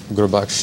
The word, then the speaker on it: Gurbaksh: Well, I think having an unusual first name, Gurbaksh, is pretty tough to pronounce.